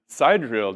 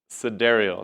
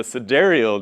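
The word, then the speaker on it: sidereal: pointed out that the SideReel day actually corresponded to this interval because the side sorry my wife corrected me last night cedario that's the correct way to say it the safe side real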